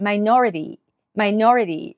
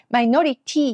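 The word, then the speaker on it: minority: つけてくださいマイノリティ最後の TY ねさっきの i danity とかもそうですけれども TY の T はね軽くみたいな感じです My nody という感じですねマイノリティにならないようにねちょっと細かい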